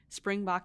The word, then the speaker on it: Springbok: And we know that we introduced you earlier as the co-founder of an AI power analytics company called Springbok Analytics. Am I pronouncing that correct?